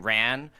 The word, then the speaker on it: Ran: Uh I don't know if it's Ran or Ron, how you say it. Ran.